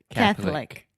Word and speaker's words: Catholic: Lick yeah that's it Catholic yeah and you can put the stress on the first syllable Catholic Catholic yeah Alexia